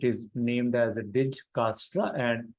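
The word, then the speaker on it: Dijkstra: named as a dig castra and J is silent in speaking so it is called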